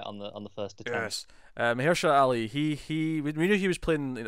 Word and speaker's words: Mahershala: Yeah, Mahershala. Did I say it right? You did. I think that is the first time you've got it right on the first attempt. Yes. Mahershala Ali.